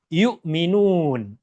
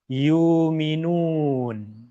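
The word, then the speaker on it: يؤمنون: sallallahu alaihi wasallam dahulu, sebagian dari bangsa Arab berat untuk mengucapkan huruf Hamzah sehingga susah bagi mereka untuk mengucapkan yukminun. Maka Rasulullah sallallahu alaihi wasallam bacakan ayat ini dengan dua cara bacaan yang berbeda. Yang pertama yukminun. Yang kedua yukun.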